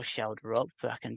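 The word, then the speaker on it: Schjelderup: Luckily, I um got Andreas Shelder pronunciation worked out before this game so I can pronounce Andreas Shelder. I can't spell Shelder up, but I can say it.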